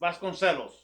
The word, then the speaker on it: Vasconcellos: husband's so it's vasconcellos some people think it's vasquez because it has a double l but um in portuguese double house has just l sound so it's vas gonzalos vasconcellos it is on the